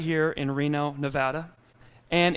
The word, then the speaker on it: Nevada: right here in Reno Nevada and it is Nevada not Nevada do we know that